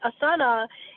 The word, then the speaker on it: asana: But initially, asana and the whole idea behind it, the word asana, actually asan in Sanskrit, that A is actually silent, but who knows what that means, so we pronounce it, means a comfortable seat for meditation.